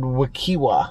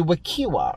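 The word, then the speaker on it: Wekiwa: nearly as bad as the way we butchered wakiwa wow yeah sorry we were like what kiba wiki yeah and it's actually wikiwa right yeah somewhere we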